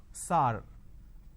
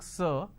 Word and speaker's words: sir: changes of this word majority of the people pronounce the word sir as sar sar can you please answer my question so instead of saying sir they say sar so this is a pronunciation mistake now how do we